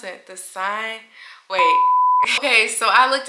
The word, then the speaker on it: Seine: cruise on the, I don't know how to pronounce it, the Seine, wait. Okay, so I looked it up. It is the Seine River.